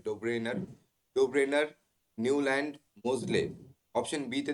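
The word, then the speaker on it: Döbereiner: আছে ডোব্রেনার ঠিক আছে এখানে দেওয়া আছে ডোবেনি ডোবেনিয়ার একচুয়ালি উচ্চারণটা হবে ডোব্রেনার ডোব্রেনার নিউল্যান্ড মোজলে অপশন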